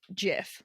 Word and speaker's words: GIF: the guy that invented it says jiff but you know what like if i can pretend that like jk rowling didn't write harry potter i can pretend that the guy that invented gifts doesn't pronounce it like a fool we're back baby currently